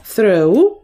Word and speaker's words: throw: До тієї колонки, там, де буквосполучення OW читається як AU, і до тієї колонки, там, де OW вимовляється як O.